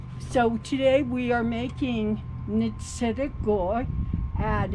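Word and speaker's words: Ntsidigo'í: So today we are making Ntsidigo'i, and it's called Kneeldown bread.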